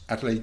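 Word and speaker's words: Adelaide: he became professor of geology and mineraly at adelade University is that he pronounce it it is that is correct and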